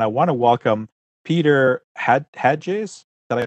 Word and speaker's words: Hatges: found somebody and I want to welcome Peter had hedges and I pronounced that crack beter that's right all right